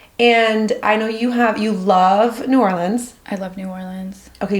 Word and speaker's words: New Orleans: And I know you love New Orleans. I love New Orleans. Okay, you say New Orleans. I don't know if you say New Orleans. It's New Orleans.